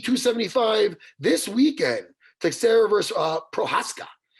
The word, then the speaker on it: Prochazka: Teixeira versus Prochazka. How did I do that with Prochazka? Did I pronounce that okay?